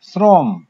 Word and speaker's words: শ্রম: শ্রম, শ্রম ওকারান্ত। উচ্চারণে দন্তস্বয়ের মতো আসে, যদিও বানানে তার বস আছে, কিন্তু উচ্চারণে দন্তস্বয়ের মতো আসে। দেখো শ্রম একেবারে সামনে থেকে সটা আসে, যার কারণে এটা আমরা দন্তস্ব দিয়ে এর উচ্চারণটা লিখবো, আর ময় হসন্ত হবে।